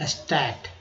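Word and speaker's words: state: अब देखिए SAT रहता सिर्फ तो बोलते स्टैट, ठीक है, स्टैट बोलते हैं ना, सांख्यिकी, स्टैट। लेकिन जैसे ही ई लग गया तो हो गया स्टेट, पढ़ने में बदलाव आ गया।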